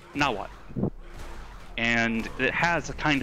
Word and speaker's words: Nahuatl: It's actually a really attractive language, and the language is spelled Nahuatl. And people go Nahuatl, or something like that. It's pronounced Nahuatl.